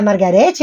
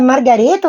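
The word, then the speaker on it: マーガレット: nas páginas da revista Margarete ou Margareto, se pronuncia Margareto, no Japão, o primeiro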